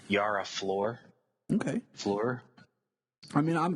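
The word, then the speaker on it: Yara Flor: her name it was I mispronounced her name last time we spoke about it but it's a Yara floor okay floor I mean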